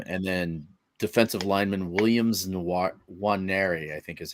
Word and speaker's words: Nwaneri: And then defensive lineman Williams Nwaneri, I think is how you say his last name. It starts with an N, but it's NW. So it's Nwaneri.